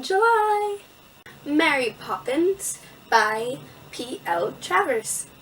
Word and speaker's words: Travers: Travers. Travers. I said it right the first time.